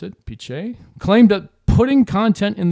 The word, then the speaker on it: Pichai: Sundar Pichai, I think that's how you pronounce it, Pichai, claimed that putting content in the AI box